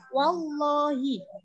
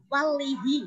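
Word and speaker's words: والله: Lah, itu harus dibaca tebal wallahi. Kenapa? Karena di sini ada lam jalalah lafal Allah yang sebelumnya ada huruf wawu tadi berharokat fathah. Jadi bacanya wallahi, enggak boleh walihi.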